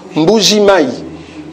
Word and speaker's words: Mbuji-Mayi: Et puis la prononciation, Mbuji-Mayi.